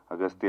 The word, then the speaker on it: Aghathiyaa: in the film uh your name is pronounced in different ways austa yeah in both ways it is pronounced it yeah it's aatya and also austa so I don't know